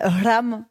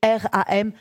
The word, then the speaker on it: ram: Alors je le dis à l'indienne ram ou à l'espagnol comme vous voulez mais vous pouvez le faire très simple. Ça s'écrit r a m ram.